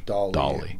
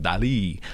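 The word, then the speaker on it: Dalí: or it's a Dali I think it's dolly dolly I would say Dolly it's not the it's not like the woman's name Eric it's like Dolly I'm like I don't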